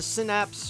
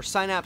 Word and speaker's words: Synapse: out this is the synapse or sign app some of you pronounce it blu-ray release it's been